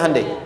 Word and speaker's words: Hyundai: bikin Honda sini Handai hyundaikan dibacanya Handai sana Honda apapun yang